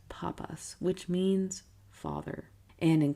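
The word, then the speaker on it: πάπας: Mark has held the title of pope and in Greek pronounced papas which means father and in Coptic since pope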